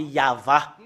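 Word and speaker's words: יהוה: tetragramme Yod c'est ça qu'on le prononce c'est yava parce que nous voyons déjà et voilà c'est y a la première partie voilà voilà c'est a et l'autre partie c'est va et cette partie là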